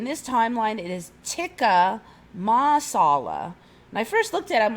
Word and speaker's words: tikka masala: was well it's it's it's now tikka masala it's not Tiki Marsala I was very careful to make sure I knew how to say it I never heard